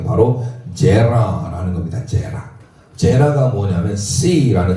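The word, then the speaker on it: זרע: 자카르, 제라. 자카르는 기억하다. 제라, 이것도 마찬가지로 지읒 발음에 이 눈을 째려보고 있잖아요. 이 세 개하고 두 개는 에 발음입니다. 에 발음.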